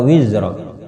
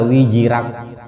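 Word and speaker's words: وِزْرَكَ: Wa wada'na anka wizrak. Wa wada'na anka wizrak. Ya. Jadi yang belum tepat pengucapan juga kita bisa betulkan, karena saya juga sering mendengar imam nakana wa wada'na anka wijirak. Karena wijirak.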